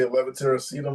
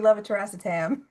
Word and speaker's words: levator: Yeah, I can say levitatorum now because Kate said it so much. And I'm pronouncing it wrong. It was supposed to be levator.